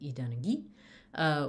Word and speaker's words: idanagi: And so we end up with idanagi, with stress on the final syllable because of that Spanish aquí.